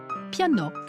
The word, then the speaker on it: piano: un tabac vers 1830 le mot piano se prononcer avec a au final ouvert piano comme abri corps cacao ces roms et tous